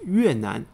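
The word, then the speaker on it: 越南: And even today, Vietnam is pronounced Yuenan in Chinese, with Yue referring to the Yue people and Nan meaning south.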